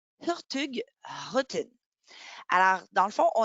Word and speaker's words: Hurtigruten: Donc, si on regarde à l'écran, on voit Hurtigruten, mais de la façon dont on le prononcerait à la norvégienne, ça serait Hurtigruten.